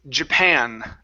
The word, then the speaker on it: Japan: Um, next one here is Japan up here. Stress on the end.